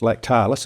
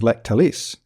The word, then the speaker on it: Lactalis: That's Lactalis, although I heard it pronounced on the ABC this morning as Lactalis. The emphasis was on the different syllable.